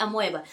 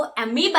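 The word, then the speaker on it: amoeba: ओ अमोएबा ईबी ए अमोएबा तो इसका spelling को सही करने के लिए इसका जो प्रोनाउंसिएशन है उसको हम बिगाड़ दिए थे तो अमोए नहीं बेटा वो अमीबा है पर फिर भी स्पेलिंग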